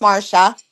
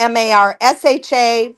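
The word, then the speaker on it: Marcia: And it is pronounced Marsha. It's pronounced the M A R S H A Marsha, but it's spelled M A R C I A.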